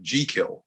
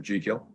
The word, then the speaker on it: Jekyll: So he borrowed the family name, and they pronounced it Jekyll.